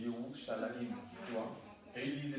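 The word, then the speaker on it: ירושלים: C'est comme Jérusalem, ça s'écrit J-R-S, et ils disent à Yerushalayim, tu vois, J-R-S-M, et ça se dit Yerushalayim, tu vois, et ils lisaient ça en fait, c'est leur langue en fait, tu vois.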